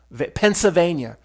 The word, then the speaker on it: Pennsylvania: it like me pens Pennsylvania there's no L just say it like that um overall the state's